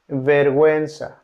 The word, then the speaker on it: vergüenza: Pingüino means penguin, or vergüenza, vergüenza, vergüenza. Vergüenza means shame. Letter H, although writing letter H generally doesn't pronounce as in huevo, huevo, huevo.